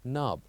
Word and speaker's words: knob: example the word knb where we pronounce n without K and the word will be knob the third one or